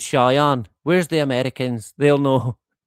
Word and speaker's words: Cheyenne: I think it's pronounced Cheyenne rather than Chien. I'm sure it's Cheyenne.